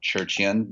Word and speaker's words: Tcherchian: So mine's at Tcherchian. The last name's going to be hard to spell, but it's TCHERCHIAN. the T is silent in Armenian.